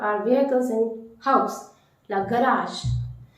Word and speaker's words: garage: So the reason behind it, you have to stretch that first syllable little bit, but not more.